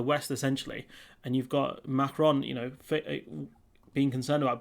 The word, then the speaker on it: Macron: by french president mackie or emmanuel maro klein pronounced his name emmanuel macron who recently called for the eu to forge